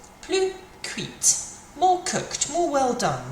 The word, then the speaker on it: cuite: Okay, well actually, because a baguette is feminine, we're going to have to pronounce it slightly differently because the E is going to have to come on the end now. So we're going to say plus cuite.